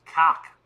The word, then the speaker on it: Kaak: He's Australian, and his name is pronounced Hudson Cock.